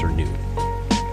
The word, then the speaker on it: Cernunno: Cernyx should always be pronounced Cernyx and Cernunno should always be pronounced Cernu.